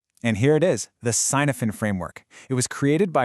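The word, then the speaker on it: Cynefin: And here it is, the Sinophen framework. It was created by a researcher named Dave Snowden. And by the way, it's pronounced Canavan.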